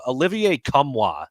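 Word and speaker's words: Olivier Nkamhoua: name because it's uh Olivier kamois is how you say it okay um they said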